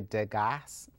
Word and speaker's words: Degas: It's pronounced in French da but it's really degas.